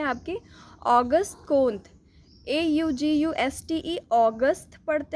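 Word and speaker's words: Auguste Comte: तो फ्रांस में इन्हें ऑगस्ट कोंटे नहीं कहते थे, ऑगस्ट कोंत बोलते थे, ठीक है, ठीक है, ऑगस्ट कोंत, यही सही प्रोनाउंसिएशन है।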